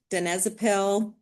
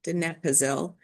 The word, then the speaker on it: donepezil: So the agents, Aricept, donepezil, or I said it wrong, donepezil, and then razidine or galantamine.